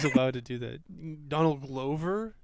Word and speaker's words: Glover: Donald Glover?